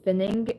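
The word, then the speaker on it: Pfennig: but it's Werner, and then Fenning, and there's a P in front of it, but ignore the P in German, so Werner Fenning is an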